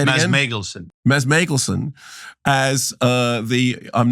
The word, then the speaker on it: Mads Mikkelsen: Meanwhile, behind all of this, like the shark from Jaws, is, correct my pronunciation, Mads Mikkelsen, tell me how to say it again. Mads Mikkelsen, as I'm not a Nazi, I am a Nazi, I'm not a Nazi, but I really am.